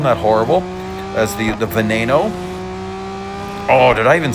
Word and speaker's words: Veneno: A long time ago, I said venino. And man, I got made fun of and it tastes deserved. It's Veneno. Oddly enough, Lamborghini is an Italian brand, but the models are have Spanish pronunciation.